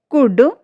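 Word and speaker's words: could: जब एल के बाद ए ओ यू के साथ एफ डी के एम आई तो एल जो हमारा है, एल लेटर जो हमारा वो साइलेंट हो जाता है।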